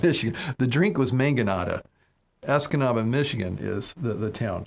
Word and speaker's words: Escanaba: town but I remember it rhymes with the Dutch Brothers drink I had last week which was a mangonata I should be able to see it right now Escanaba yes Escanaba Mission the